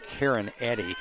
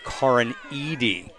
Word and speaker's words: Karin Eady: I call her Karen Eddy. It is Karin Eady.